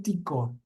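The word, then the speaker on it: Tycho: Se escribe Ticho, pero le dicen Tico.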